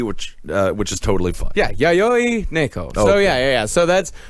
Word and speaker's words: Yayoi Neko: I asked them, and they said Yayoi Neko. And you say they because the pronouns does not want to be addressed as he or she, which is totally fine. Yeah, Yayoi Neko.